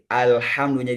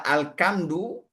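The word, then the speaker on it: الحمد: Tapi kalau berubah menjadi ka alkamdu ah atau alhamdu h besar kita istilahkan biasanya ha besar. Alkamdu atau alhamdu e kemudian di ainnya menjadi hamzah.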